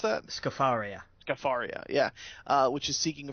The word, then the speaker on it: Scafaria: How do you pronounce that? Scafaria.